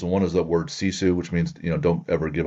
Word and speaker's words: sisu: SISU, pronounced sisu.